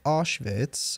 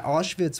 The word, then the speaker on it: Auschwitz: think we went to Auschwitz um how do you pronounce itz is typically pronounced with a v yeah how do you